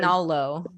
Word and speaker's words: Romagnolo: I have a really hard time pronouncing this, but I think it's Legato Romagnola, Romagnolo. a Spanish water dog. So Legato Italian. Romagnolo.